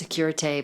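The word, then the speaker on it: sécurité: It's supposed to be pronounced securite, but I think they've given up because that's an alarm for help. That's if you need alarm for help, you say securite. But I think they say security because everybody says security.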